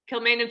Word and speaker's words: Kilmainham: they been So, in Kilmainham jail?